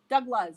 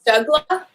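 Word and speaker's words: Dubh Glas: then the second word is g-a-g-l-a-s but it's pronounced douglas douglas douglas that's how we print this from the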